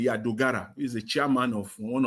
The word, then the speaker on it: Dogara: Dogara, when pronounce his name, Dogara, he's the chairman of one of the committees there.